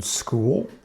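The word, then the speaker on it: Skool: And that's the beautiful thing about having your own school. It's, by the way, it's spelled S K O O L.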